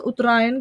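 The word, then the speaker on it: उत्तरायण: पतंग उड़ाई जाती है उत्तरायन बोलते हैं वैसे इसको प्रोनाउंस उत्तरायन किया जाता है इन गुजरात और लोड़ी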